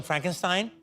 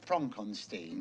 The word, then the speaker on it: Frankenstein: Young Frankenstein. Well, why isn't it Frederick Frankenstein?